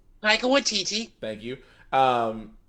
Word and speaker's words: Taika Waititi: I can never pronounce his name. Taika Waititi.